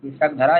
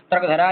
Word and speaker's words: स्रग्धरा: है ऐसा ठीक है इसलिए हम इसको सग धरा ही कहेंगे शग धरा यही सही उच्चारण है इसका तक धरा यह गलत है अब यह समृत छंद